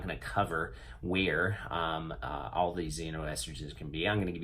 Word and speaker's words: xenoestrogens: gonna be talking about xenoestrogens xenoestrogens that's right it's kind of fun to say Zeno and it's actually spelled with an X if you type up